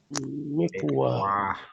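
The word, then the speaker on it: مكواة: Mikwatun. How would they pronounce it? Mikwa. Good. They'll say mikwa.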